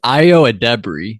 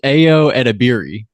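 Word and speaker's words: Ayo Edebiri: about this AO well I've learned how to say it properly so is that really it's IO ad Deb is how you say it is that true the first time I saw it I thought it was AO edir yeah that's how I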